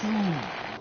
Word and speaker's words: Soon: It's Soon. What? Dr. Soon. Rhymes with moon? How Repeating.